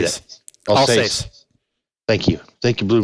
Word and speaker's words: Alsace: Alsace.